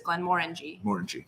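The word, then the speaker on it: Glenmorangie: way yeah glenn but it's glenn moore ng morning yeah like you're saying the word orange somebody i clarified that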